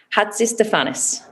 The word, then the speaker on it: Hatzistefanis: messing up people's names so it is maria tell me if i get it right hats is stefanis perfect i am very impressed